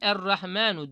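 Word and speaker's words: الرحمن: yok ama uzatılarak okunuyor Eğer rahmen böyle yazılıyor normalde Ama biz onu okurken errahmanu diye okuyoruz neymiş Bunlar bakın telaffuz edilen ama yazılmayan harfler Arapçada 8.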